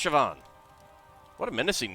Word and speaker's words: Siobhan: Siobhan? Siobhan. It's pronounced Siobhan.